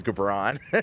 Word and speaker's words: Gibran: My name is Gabbron.